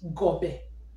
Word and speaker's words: Gobe: And the word is G O B E G O B E. Remember, this is G, as we said. This one is O B, and this one is E, and the pronunciation is O Gobe Gobe.